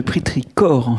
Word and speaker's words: pétrichor: tirage il y a j'ai rajouté la prononciation parce que c'est un ch venu d'une racine grecque donc c'est le pétricore mais c'est pas un